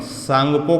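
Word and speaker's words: Tsangpo: जाता है, तिब्बत में सांगपो कहा जाता है, जिसमें टी क्या रहता है, साइलेंट रहता है।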